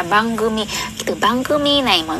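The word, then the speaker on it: 番組: Thì ở đây chúng ta sẽ đọc là bangumi.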